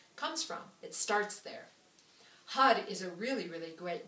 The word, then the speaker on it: Har: and then spell it h-a-r so when you read it you think har but that's not it it's ha with more like h-u-d is often how i think of it when hud starts